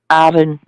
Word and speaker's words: Arran: How do you pronounce that island you were talking about? Arran.